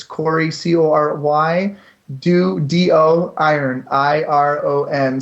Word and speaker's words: Doiron: it's Corey c-o-r-y do d-o iron i-r-o-n so how you pronounce that last name I'm not sure but it phonetically is Corey do iron you can find me